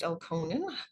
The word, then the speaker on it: Elkonin: Elkonin, I've also heard it pronounced Elkonin, boxes.